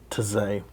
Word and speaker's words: Taizé: March 19th, do you know how to pronounce that word? Taizé.